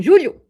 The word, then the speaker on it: julho: How do you say it? Julio. Em julho. Julho. Esse inverno vai ser quente porque I don't know.